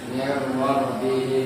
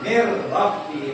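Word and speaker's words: مِنْ رَبِّهِمْ: Makanya bacanya Min rabbihim. Mir Rabbihim. Rabbihim. Mir Rabbihim, bukan min Rabbihim.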